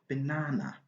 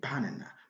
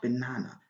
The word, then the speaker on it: banana: If we put the stress on the first syllable, our pronunciation is going to be very wrong and very bad. Okay, we don't have the right to say banana, but banana. This is the right pronunciation.